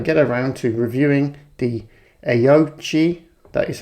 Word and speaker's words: Aoocci: So finally, I'm going to get around to reviewing the Aoocci, that is how you pronounce it because I asked them, C6 series, Apple CarPlay, Android Auto display unit for your motorcycle.